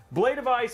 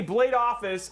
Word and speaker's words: Blade of Ice: Blade of Ice. I actually didn't say Blade Office. I said Blade of Ice. Got it actually right that time.